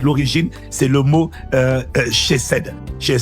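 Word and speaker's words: chesed: En fait la le mot bonté de Dieu, en fait l'origine, c'est le mot euh chez cèd. Chez c ça s'écrit c h e s e d ou c h e c e d.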